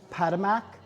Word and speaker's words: Patowmack: Last but not least, ladies, I just want to bring your attention to the name of the establishment, Padmak. It's actually the Native American pronunciation for Potomac River.